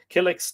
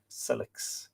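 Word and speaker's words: Cilix: or you don't know yes it begins with an s celix it's an s sound okay my mistake s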